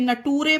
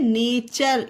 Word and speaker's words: nature: अब इसे सोचो NATURE नटूरे पढ़े तो नहीं, नटूरे नहीं है ये है नेचर।